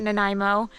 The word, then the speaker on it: Nanaimo: the many many trails out here in Nanaimo that's how you pronounce it Nanaimo I think we're technically